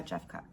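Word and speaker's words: Jeffcoat: Yeah, Jeffcott.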